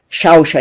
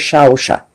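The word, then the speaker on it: Xauxa: Entonces, cuando los españoles escriben con X, ellos están queriendo decir que es un sonido tipo SH, más suave que una CH, que es duro, como Yarush, por ejemplo, aquí, Shausha.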